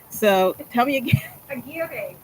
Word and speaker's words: Aguirre: it, even though she sent me the phonetic pronunciation. So tell me again. Aguirre. Aguirre.